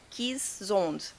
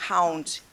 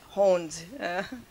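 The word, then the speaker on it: Keeshond: Então, originalmente, eles são cães que vieram da Holanda, por isso que a pronúncia é Kishond, e não é Hound, é Hond.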